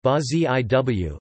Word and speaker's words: Brasil: Brazil Portuguese, Brazil Portuguese pronunciation, Ba-Ziw, officially the Federative Republic of Brazil Portuguese, República